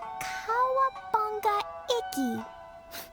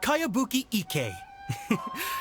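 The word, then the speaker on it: Kayabuki Ikkei: new one i've never heard of it by cowabunga icky this is a really strange name who's this cowabunga it's pronounced kayabuki ek that would be me outlander brigade is a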